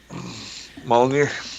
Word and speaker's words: Molyneux: Is it Peter Molyneux? How do you pronounce it? Yeah, Molyneux.